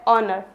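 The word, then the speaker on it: honour: है ओ आता है एच के बाद ओ आ जाए तो एच क्या होगा यहां पर साइलेंट होगा जैसे आता है ऑनर बहुत लोग उसे हनर पढ़ते हैं तो हनर नहीं है वो क्या है ऑनर नेक्स्ट आर क्या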